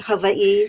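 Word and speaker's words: Hawaiʻi: Don't ask me why I've spent almost 40 years here, but I often say that Havi, which again is the correct pronunciation, you pronounce every single letter.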